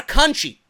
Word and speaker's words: Conti: band versus Taino a country yes country even though it's spelt kunti kunchi Jessie Ella ban